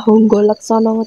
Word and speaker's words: Hangga Laksmana: di makam Mbah Demang harga Laksmana ini kalau bahasa Jawa di bacanya honggo Laksono katanya yang memerintah menjadi